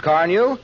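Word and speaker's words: Carnu: If I were you, I'd buy a package of Johnson's Car New and clean and polish my car this week. You won't regret it. It's spelled C-A-R-N-U, Johnson's Car New.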